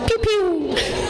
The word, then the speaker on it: Piu Piu: I believe that it's pronounced Piu Piu. Oh. Like from a laser gun?